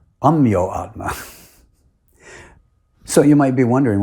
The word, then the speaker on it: Ameyatma: My name is spelled Ameyatma, and everyone else uses the Sanskrit pronunciation and calls me Ameyatma. But Srila Prabhupada has Bengali accent, and he pronounced it as Amyoatma, adding an O in the middle.